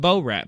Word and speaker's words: Borat: The first few times you said Bo-rat, and that is just not how it's pronounced. Borat.